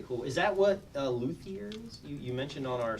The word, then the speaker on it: luthier: It's a French word, luthier, I believe is how they would pronounce it.